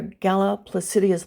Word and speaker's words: Galla Placidia: Under Galla Placidia's leadership, and I'm pronouncing her name in the Latin rather than the Italian way.